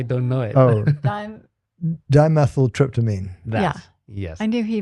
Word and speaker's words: dimethyltryptamine: dimethyltryptamine.